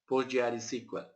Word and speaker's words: PostgreSQL: You can pronounce it PostgreSQL like that, right?